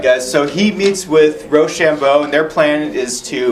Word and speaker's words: Rochambeau: Rochambeau. Rochambeau. Rochambeau. Like rock, paper, scissors.